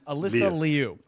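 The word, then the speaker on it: Alysa Liu: No, I'm all about uh, you know, honoring the proper pronunciation. Alyssa Leu.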